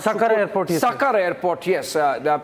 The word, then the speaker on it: Sukkur: Sakkar airport, yes. The pronunciation is Sakkar.